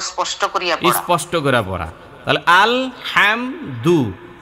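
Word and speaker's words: الحمد: করি স্পষ্ট করে পড়া আল হামদু আল হামদু এই হাম স্পষ্ট হবে এক জবর এক পেশকে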